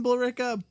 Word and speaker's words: Billerica: favorite Billerica actually pretty pretty much its Billerica but if you live in bull Rica people say ricca that's right I said